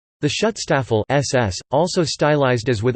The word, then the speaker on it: Schutzstaffel: The Schutzstaffel SS, also stylized as with Armanen runes, German pronunciation, Teestafel, listen, literally, protection squadron, was a major paramilitary